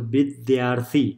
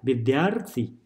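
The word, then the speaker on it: विद्यार्थी: becomes this shape, so bidyarthi, bidyarthi, that's how it's separated, bidyarthi, bidyarthi, bidyarthi. So if you write, let's see here, bid, da is pronounced with b as well as dya, bidyarthi.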